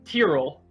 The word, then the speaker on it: Tyrell: It's Tyrell. Tyrell. Okay. Yeah, Tyrell.